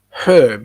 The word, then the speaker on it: herb: r b is a herb you pronounce it herb um okay lorraine is